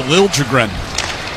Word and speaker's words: Liljegren: Traded back at the end of October and asked when he got to San Jose if they would correct the pronunciation of his name after, 5 years in Toronto? So it is now Liljegren.